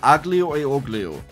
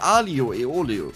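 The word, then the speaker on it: aglio e olio: italian restaurant and they said it's called spaghetti aglio e oglio which is completely wrong it's called alio aeolio and i don't even know why they said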